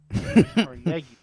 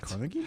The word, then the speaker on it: Carnegie: These times just label just label one Carnegie for RZ Cargi for me. Damn it. Carnegie. Yeah. Carnegie. They say Carnegie. We say CargI.